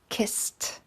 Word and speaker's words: kissed: have an example of kiss which becomes kist which becomes a little bit easier with our s and our t the s isn't as harsh as a k the next example we